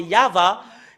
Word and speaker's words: Yahvah: nous voyons dans le chef de juif c'est yava et ça prouve très bien que voilà la